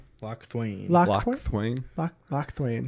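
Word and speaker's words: Locthwain: Yeah, it's Lochthwain. Lochthwain. Lochthwain. Lochthwain. Or if you pronounce it German, Lochthvain. Lochthwain, I guess, technically, because the I comes after the A.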